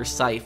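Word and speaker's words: Sithe: dr seif to testify so i've been saying her name wrong it's dr seif um people told me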